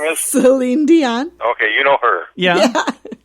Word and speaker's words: Celine Dion: Celine Dion.